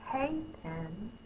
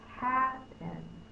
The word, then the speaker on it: happen: The word's not hay-pen, it's happen. So it has to be the a sound.